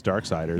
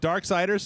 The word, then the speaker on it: Darksiders: It rhymes with sliders.